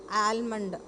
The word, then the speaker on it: almond: which one almond almond it's not am almond if when you say ah then L is pronounced but L is silent so it is almond got it so I